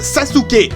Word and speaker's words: Sasuke: Et oui, je sais que ça se prononce Sasuke.